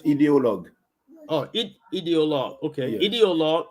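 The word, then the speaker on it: idéologue: How's pronounced in French? In French, ideologue.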